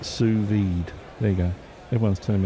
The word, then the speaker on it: sous-vide: low papi no pasta the second S is silent pronounced sous-vide there you go everyone's